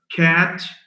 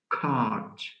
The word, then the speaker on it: cat: Cat, C-A-T, is sometimes mispronounced as cart. Some people don't have the a sound. They make it a sound. Now, and as in cat and as in cart are 2 different words.